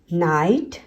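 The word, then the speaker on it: night: नाइट, नाइट। फ्लाइट, फ्लाइट। राइट, राइट, टाइट, टाइट, इसमें IGH में GH silent होता है, सिर्फ I का साउंड होता है।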